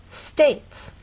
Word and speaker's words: States: This word reminds you that sometimes you may see a vowel, but it's silent. E is often a silent vowel. One vowel sound, one syllable.